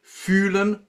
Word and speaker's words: fühlen: Just say E with a kind of face-lifting face. And then you keep the position of the tongue and just move the lips forward as if you were kissing a baby.